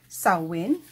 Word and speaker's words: Samhain: one and it's gonna be it's it's actually pronounced sawwin and it is a gaelic term um celebrated